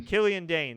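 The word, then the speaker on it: Killian Dain: and eventually Mojo eliminated is it Killian or kalane I think it's Killian Dean Killian Dane there you go I don't know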